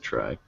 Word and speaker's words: trie: an attempt to distinguish it verbally from tree but it sounds exactly the same the phonetic spelling is one letter different yeah yeah I'm just being sarcastic I guess to try okay some people pronounce it try I'm gonna pronounce it